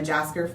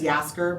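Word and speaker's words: Jaskier: I'll tell you, since I'm a Jasker, I think it's Jasker, but it's Yasker, but I feel like it's spelled Jasker.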